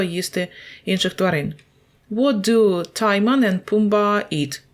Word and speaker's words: Timon: Так, до речі, Тімон читається правильно Timon. So, Timon.